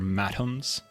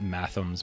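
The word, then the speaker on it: mathoms: I was never actually 100% certain how to pronounce this, but I think they're matums. Not mathums, but matums, like a hard T.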